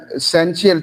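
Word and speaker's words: Essential: एसेंशियल T silent है जी, ऐसे ही बोलते हैं इसको, HD हार्ड डिस्क जी।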